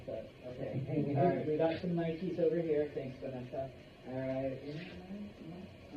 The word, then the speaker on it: Nike: so it should be Nike not Nik okay um the reason why we do that is because it's not an English word it's a Greek word okay it is the